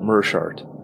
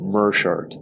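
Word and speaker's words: Meerschaert: Gerald let's hear uh it does not rhyme with smear uh let's hear Gerald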